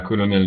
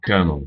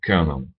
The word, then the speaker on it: colonel: ça se dit pas colonel du tout ça se dit knernel knernel le L est devenu un r en prononciation c'est un exemple extrême